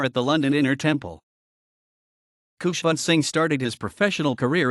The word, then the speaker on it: Khushwant: He chose Khushwant so that it rhymes with his elder brother's name Bhagwant.